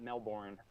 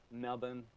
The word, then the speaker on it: Melbourne: at university of melbourne anybody in australia noticed i just pronounced that properly it's not melbourne melbourne he's a neuroscientist at university